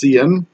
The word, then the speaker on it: cin: that's pronounced C out this thing that says CIN CIN that's usually pronounced CN and some of these